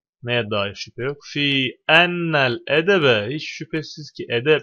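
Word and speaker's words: أنّ: Fi harfi cerir ardından Hemze nun geldi Enne diye okundu inne diye okunmadı burada anlatılan daha ayrıntılı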